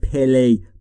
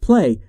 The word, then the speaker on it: play: دوستان در مورد تلفظ play دقت بکنید، نگفتم play. play بین P و L صدایی وجود نداره.